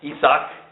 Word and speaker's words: Isaac: his son isaac and isaac isak is how it's pronounced dwelt in bear lahai